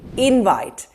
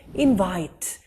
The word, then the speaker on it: invite: here's your next word in the noun form we'll say invite he gave us an invite to the party and as a verb invite i would like to invite you to the party notice the subtle difference because of emphasis invite and invite here's